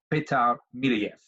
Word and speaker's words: Petar Milojev: I found another expert by the name of Peter mill EF and I think that's about how we say